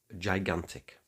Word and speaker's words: gigantic: So what comes after the first G? It's an I. So according to our rule, the first G is soft, giving us gi.